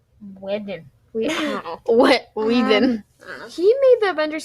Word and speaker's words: Whedon: Whedon.